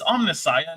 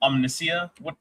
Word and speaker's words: Omnissiah: It's omnissiah, not omniscia.